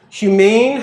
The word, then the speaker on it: humane: gives us human, but by putting the accent on the end, humane, it's an uplift, a literal inflectional uplift that is supposed to emphasize what's best about being human.